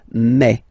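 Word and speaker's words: mai: ail nothing really tricky about this month I mean for the pronunciation ail okay here be careful because people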